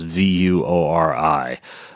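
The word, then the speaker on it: Vuori: addition to creating a company that is not pronounce like it spells V you Ori they make really really comfortable shorts that you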